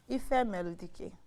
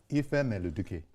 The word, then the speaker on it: Ifemeludike: Ifemeludike. Ifemeludike. Dike. It was better. You say Duke, so that Duke.